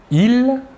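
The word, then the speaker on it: ils: Tout d'abord, le masculin, « il », la S finale ne se prononce pas, et le pronom personnel sujet féminin de la troisième personne du pluriel est « elle ».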